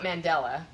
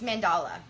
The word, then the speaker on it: mandala: the proper pronunciation um we know it's not Mandela it's mandala it's mandala mandala mhm